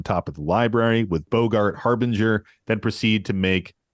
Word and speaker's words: Boggart: we're we're Beyond scryfall have pronunciations it is Bogart Bogart okay cool yeah like quit Bogart in that doobie broh well wait yeah